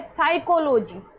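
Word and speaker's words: psychology: अब इसमें P silent है। क्यों है? क्योंकि एस से पहले हमें पी दिख रहा है। तो इसका प्रोनाउंस नहीं होगा।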